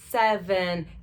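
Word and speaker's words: seven: Tem gente que fala 7 e, na verdade, é muito mais fechado, tá? A boca mais fechada na hora de pronunciar. 7.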